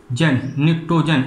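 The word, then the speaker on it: Pnictogen: जैसे नाइट्रोजन को कहते हैं, देखना नाइट्रोजन का नाम निक्टोजन। अब ये लिखा है यहाँ P साइलेंट है, निक्टोजन फैमिली।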